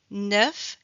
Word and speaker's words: neuf: Donc quand on prononce la dernière consonne, automatiquement le son e est plus ouvert.